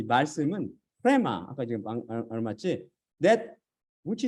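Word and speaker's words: ῥῆμα: 로고스가 아니라 프레마가 바로 육신을 살리는 성령님이라고 47강에서 배웠잖아요. 그래서 여기서는 바로 프레마. 참고로 어떤 분은 프레마를 레마라고 말합니다. 레마라고 말하는데 이거는 고대 헬라어 발음법에 따르면 이건 잘못 발음한 거죠.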